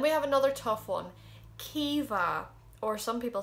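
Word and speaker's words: Caoimhe: a k then we have another tough one kiva or some people say koiva that's kind of more connect it's not he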